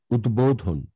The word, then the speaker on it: উদ্বোধন: মনে রাখতে হবে উদ উপসর্গ যোগে গঠিত শব্দের দয়ের সাথে যদি বফলা যুক্ত হয় তখন সেই দয়ের দ্বিত্ব উচ্চারণ হয় না, সেই ক্ষেত্রে বফলা তার নিজস্ব উচ্চারণেই উচ্চারিত হয়ে থাকে, ঠিক আছে।